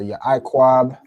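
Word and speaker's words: יעקב: already been through but Kyla how do we pronounce this? Y I quab right so yquaba bing boom which like yeah is how you pronounce it.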